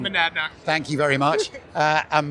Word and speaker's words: Monadnock: I'm going to pronounce this wrong. Monadnock.